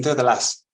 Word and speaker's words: Delàs: there the Centra DEA is that how you pronounce it or dasas C delas yes it's Catalan last name SAS but everyone